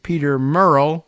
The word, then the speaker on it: Murrell: independence after the arrests of Ms sturgeon's husband Peter Murrell if I have that pronunciation correct m-u-r-r-e-l-l the party's former Chief Executive